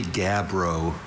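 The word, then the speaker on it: gabbro: Are there any alternate pronunciations? I see only gabro.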